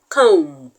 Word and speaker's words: comb: example is the word com com c o m b the b in comb is silent so you do not